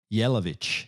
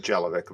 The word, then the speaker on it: Yelovich: badass Dr yelovich did I say that correctly yeah that would be the uh proper pronunciation sometimes I just go with gelic but that's okay no they do not say gelic over there uh if you had